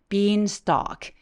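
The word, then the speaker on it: beanstalk: 필요 해요 자 그리고 bean stock stock 할 때 Al 우리 걸어가다 할 때도 wal 이렇게 발음하죠 얘가 턱을 엄청 길게 벌리고 L 발음이 없어지는 발음이에요 be stock be stock라고 말해 주세요 bean stock은 콩 나무란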